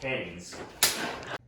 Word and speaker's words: Keynes: oh pip pedal paddle kenny's is a whack pot oh kinger showed up it's pronounced canes okay mr canes this is how the